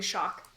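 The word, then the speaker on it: Xoc: Is it like an H or is it different? It's like Ash. So it's Lady Shock.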